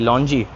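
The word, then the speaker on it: longyi: की ज़्यादा है, और ये लोग इसको लॉन्जी बोलते हैं, जैसे ये भाई साहब ने पहनी है, लुंगी नहीं लॉन्जी थोड़ा सा प्रोनाउंसिएशन अलग है।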